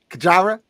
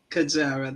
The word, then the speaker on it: Kajara: Kajara. Kajara, that's correct.